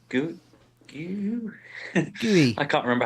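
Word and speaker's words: Guiu: Gu? Gooey. I can't remember how you pronounce his name. Mark Gui. Gooey. Gooey.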